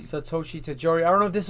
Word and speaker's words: Satoshi Tajiri: Satoshi Tajiri. Satoshi Tajiri.